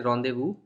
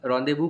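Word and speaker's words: rendezvous: Complex pronunciation है उसकी, because ये वर्ड फ्रेंच से आता है एंड फ्रेंच लैंग्वेज का प्रोनाउंसिएशन बहुत ही डिफरेंट होता है। इसीलिए आप इंग्लिश लैंग्वेज के अगर आप एक्सपीरियंस लगाओगे तो कभी इसको करेक्टली प्रोनाउंस नहीं कर पाओगे। एनीवे इसका प्रोनाउंसिएशन है रॉन्डेवू, एंड रॉन्डेवू का मतलब होता है मीटिंग।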